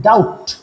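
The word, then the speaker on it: doubt: উজ্য থাকে ঠিক যেমন আমরা যখন ডাউট লেখি উচ্চারণটা করি না বলি ডাউট ডাউট সন্দেহ একইভাবে এটাকে আমরা উচ্চারণ যার মানে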